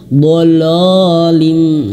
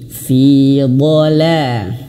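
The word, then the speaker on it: fī ḍalāl: Jangan sampai bacanya dolim ya. fiolalin. Nah, tidak tapi fidola. Jadi ketika la ee tipsnya, caranya supaya huruf lam ini tidak terbawa tebal adalah dibuka mulutnya ketika dia fathah. Nah, ini ya.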